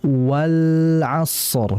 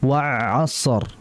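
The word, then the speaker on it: والعصر: Maka dibaca wal asr, bukan wa asr.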